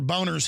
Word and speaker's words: Boehner: Conservative group calls for Boner's head. The Speaker of the House, John Boehner. I mean, John, well, it is pronounced Boner. He tells us to say Boehner.